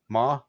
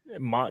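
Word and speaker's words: Mauch: Is that how you say his name? Ma? Or is it Mach? Do you say the CH? Mach.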